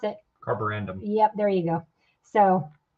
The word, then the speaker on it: Carborundum: I can't pronounce it. Carborundum.